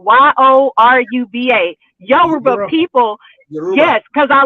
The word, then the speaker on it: Yoruba: sat in briefly for the Europe I always pronounce it wrong y-o-r-u-b-a Yoruba people yes because I love the talking